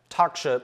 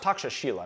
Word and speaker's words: Takshashila: research analyst at the talk show it's pronounced taksha Sheila not whatever I just said at the takshashila